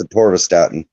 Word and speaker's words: atorvastatin: it's pronounced atorvastatin.